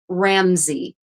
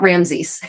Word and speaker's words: Ramsey: Kate Ramsey, Ramsey. Kate Ramsey, not Ramses. Yeah, Ramsey. At least I'm assuming that's how her name is pronounced. I've only read it, so pronunciation question mark.